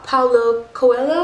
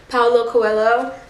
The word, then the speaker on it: Paulo Coelho: I say The Alchemist by Paulo Coelho, I think that's how you say it. Paulo Coelho.